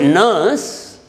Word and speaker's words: nurse: See, in the word nurse, that R is silent.